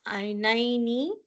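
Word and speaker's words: عينين: So it will not be عَيْنِينَ. No, it will be عَيْنَيْنِ.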